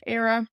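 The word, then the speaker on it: Éire: pronunciation I'm offering here is a standard basic pronunciation of the word Ireland era if you were interested in a particular dialect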